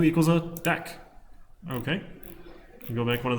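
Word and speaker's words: deque: go collections Tech huh a double-ended Q pronounced deck see python told it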